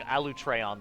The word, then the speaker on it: Alatreon: So I'll be saying Alatreon then, properly.